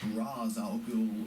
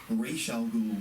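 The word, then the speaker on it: Ra's al Ghul: a Minefield here because there is no definitive way to pronounce his name whether it's RZ Al or Ral Gul or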